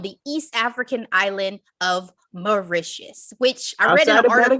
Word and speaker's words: Mauritius: east african island of mauritius which i already have a gaston i read an article or was it in the movie that mauritius rhymes with delicious and i was like